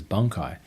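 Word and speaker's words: Bankai: the way Ichigo pronounces bunkai. The dubbed now matches the subbed with a pause between the bun and the kai.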